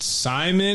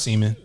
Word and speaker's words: Seaman: So they would try to like pronounce it like, is it Simon? It was like, no, it's Seaman. Yeah, it's Seaman. Like he just look at you, it's Seaman.